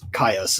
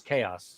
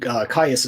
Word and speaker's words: KAYAS: So where did you come up with the name KAYAS, which I've been mispronouncing as chaos? So yeah. So the word KAYAS is actually an old Cree word.